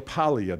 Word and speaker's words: Paglia: by the name of Camille Paglia. The G in her name is silent.